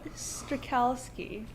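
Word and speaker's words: Strachalski: Oh, Strakalski. Strakalski? Yeah. It's not that hard. It's just the CH is basically pronounced like a K, and it confuses.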